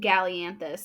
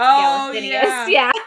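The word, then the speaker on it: Galathynius: I say Aelin Gallianthus, and you told me it's Galathinius.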